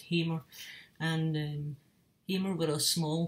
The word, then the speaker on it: Hamer: a guitar buff, is they played Hamer guitars, or Hammer, but I think it's pronounced Hamer.